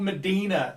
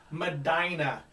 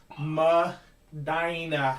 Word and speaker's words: Medina: thing for numbers but it's not funky called medina this is not tone loke it is madinah you don't know what you're talking about learn your geography at least say it right ma daina say it with me manny madina iraq iraq